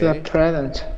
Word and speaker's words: present: It's a present. All right. All right. Uh stress is on the pre present. First syllable.